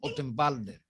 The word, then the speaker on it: Ottenwalder: Ahora dígamelo ese apellido es danés, alemán. Pronúncielo usted. ¿Cómo? Ottenwalder. ¿Lo dijo bien, Laura? Sí, sí.